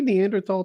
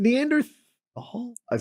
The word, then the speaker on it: Neanderthal: Is it Neanderthal? I've always said it. Yeah, it's supposed to be Neanderthal, but they shouldn't have thrown that fucking H in there if they wanted people to say it right.